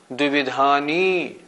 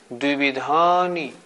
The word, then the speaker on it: द्विविधानि: इसका भी उच्चारण हमें ठीक करना चाहिए। बहुत से लोग बोलते हैं द्विविधानि, पंचेंद्रियाणि, द्विविधानि। नहीं, ऐसे नहीं, द्विविधानि, पंचेंद्रियाणि। जोर देना है या पे, धा पे।